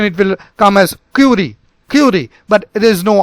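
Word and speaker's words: Curie: take it now so we tell it as curi although it sounds at curi if you if you listen to any pronunciation it will come as curi curi but there's no R remember that it's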